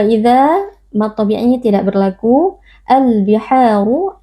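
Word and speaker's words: البِحَارُ: Al biharu alif lam al-qamariyah, karena ada alif lam bertemu dengan salah satu huruf qamariyah yaitu huruf ba. Cara membacanya alif lam dibaca dengan izhar atau dengan jelas. Al-biharu, ha mad tabi'i, karena ada alif yang sebelumnya berharokat fathah dibaca panjang 2 harokat.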